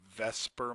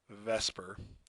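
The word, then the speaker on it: VSEPR: the shapes of Mo molecules is called the Vesper model I realized the S is before the e but that's just how the man produces or pronounces it is with Vesper and it stands for the veence shell again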